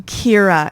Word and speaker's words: Kira: Kira is how you say it.